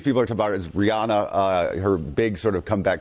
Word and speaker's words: Rihanna: Because I mispronounced the name a couple times. And friends of mine, I said Rihanna. Her name is Rihanna. In Barbados, it's Rihanna. It is.